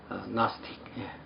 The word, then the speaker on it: Gnostic: 영어로 된 이 영지주의라는 용어는 나스티시즘 이렇게 발음합니다. 또 영적인 지식을 가진 자는 나스틱.